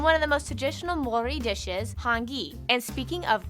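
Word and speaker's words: Māori: various countries like china by the way it's pronounced mori not mayori maori they use the new zealand dollar as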